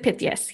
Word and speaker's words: Pythias: And you also did the Knights of Pythias. Mm-hmm. And that's the way you pronounce it, correct? Knights of Pythias.